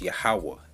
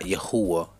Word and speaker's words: Yahawah: replace the yhwh the tetragrammaton which is properly pronounced yahawah not yahweh not yahuwah not jehovah it's yahweh because there's only two syllables in